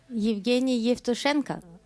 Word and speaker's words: Yevgeny Yevtushenko: I hope I pronounce it well, Yevgeny Yevtushenko. Evgeny Yevtushenko.